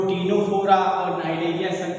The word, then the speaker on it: Cnidaria: तो बच्चों फाइलम क्या है इसका, नाइडेरिया है। तो नाइडेरिया में आपने देखा ये सी है, तो ये क्या है, सी साइलेंट है।